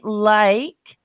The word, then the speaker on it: like: So in this case, what's happening is this E at the end is silent, and the E oops, the E at the end of this word, where is it? Gets deleted, even though you can't see that line really through it, but we don't pronounce the last E.